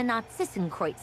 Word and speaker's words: Narcissenkreuz: They spent their childhood years together in the Narcissenkreuz Institute. Narcissenkreuz? That's how you pronounce it.